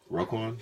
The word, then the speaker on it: Roquan: I mean, Raquan Smith, I've seen I pronounced that right? Roquan?